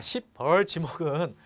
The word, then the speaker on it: 십벌지목: 발음을 좀 세게 하면 안 됩니다. 십벌지목입니다. 십벌지목. 자, 십벌지목은 10번 찍어서 안 넘어가는 나무가 없다.